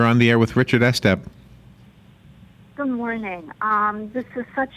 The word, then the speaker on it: Estep: You are. Estep is the way it's pronounced.